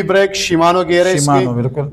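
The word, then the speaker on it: Shimano: श्री मानो तो यार स्पिल को देखा करें स्पेलिंग को एस एच आई एम ए एन ओ शिमानो बन जाता है इसमें इस तरह का आता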